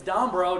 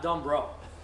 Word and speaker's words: Dombroe: H instead of a k um and it's D bro not Dum bro yeah some people beg to differ thanks a